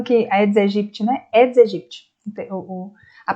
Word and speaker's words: Aedes aegypti: Aedes aegypti, a pronúncia correta, né? Aedes aegypti.